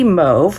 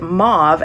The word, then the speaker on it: mauve: This one is Moody Mauve, which I've learned Americans pronounce it mauve and Canadians pronounce it mauve.